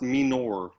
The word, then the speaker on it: Minor: It's pronounced Minor. Yeah, Minor. It's French.